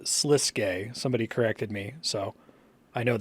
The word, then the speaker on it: Sliske: the editing Bay uh I pronounce it slisk through this entire episode including in my summary commentary it's pronounced sliske somebody corrected me so